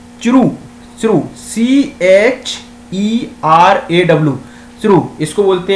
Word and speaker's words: Cheraw: शेरू, शेरू बोलते हैं, Shirou, Shirou बोलते हैं, सी जो प्रोनाउंसिएशन होता है शेरू, SHERAW, शेरू।